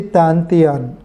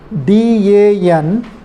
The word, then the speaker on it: Dantian: I think I'm not totally professional, but they do this kind of the exercises, respiratory technique, to strengthening to the Dantian.